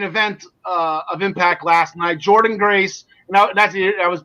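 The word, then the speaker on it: Jordynne Grace: I thought it was Jordana, the way it was spelled, but it's Jordan Grace.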